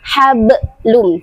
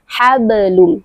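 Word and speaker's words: حَبْلٌ: Ingat juga ketika mengucapkan huruf qalqalah tidak boleh ditekan terlalu berlebihan. Jangan sampai seperti kedengaran ada huruf hamzah yang mengikuti di belakangnya. Hablum tidak hablum. Jadi pengucapannya ringan saja sampai cukup sampai di makhrajnya hablum.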